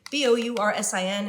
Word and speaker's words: Boursin: B-O-U-R-S-I-N. If you're wondering how to pronounce it, it's Boursin.